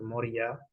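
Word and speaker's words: מוריה: moria eh este lugar que en hebreo se se pronuncia mor ya eh significa ordenado elegido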